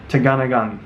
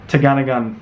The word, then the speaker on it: Tegenungan: too gun a gun I've been avoiding saying that because I've seen so many videos online people are saying it and getting it wrong - gonnigan that's that's my pronunciation of the waterfall it's one of the